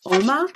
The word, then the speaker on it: Uoma: double check the site I have been saying it wrong it's all month not warm I OMA and it's